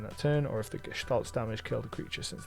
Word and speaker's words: Gestalt: I'm pretty sure it is pronounced Gestalt with a sh sound.